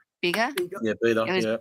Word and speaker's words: Bega: Bega?